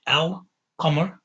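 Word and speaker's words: القمر: You say al qamar ashams. So the qaf lets you pronounce the lam, the L.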